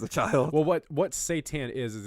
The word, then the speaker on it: seitan: for cooking it's either a product called it's pronounced seitan but it's accepted Satan into my body when I was a child well what what seitan is is it's basically wheat gluten that you